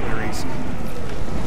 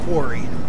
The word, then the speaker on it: quarry: and die in the queries uh Quarry is the correct pronunciation as I say it wrong repeatedly um but basically they